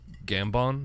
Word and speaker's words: Gambon: I really like Michael Gambon.